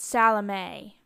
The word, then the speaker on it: Salome: Now, my grandmother pronounced it Salome, but I believe that in traditional Polish, it would be Salomia, and spelled that way on the bottom, ending in M-E-A instead of the above,